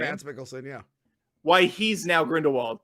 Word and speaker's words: Mads Mikkelsen: Yeah, Mads Mikkelsen, yeah.